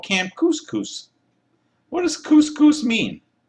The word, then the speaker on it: Couscous: Anyway, welcome to Camp Couscous. It rhymes with moose, and that's another good thing about it.